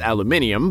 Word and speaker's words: aluminium: because he claims it sounds like the word aluminum but that joke probably doesn't land as well in the uk where it's pronounced aluminium but hey isa yama also gave him a